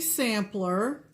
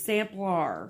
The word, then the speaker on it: Samplar: Dixie Sampler. Dixie Sampler. It's Samplar. Samplar. It's how it's spelled.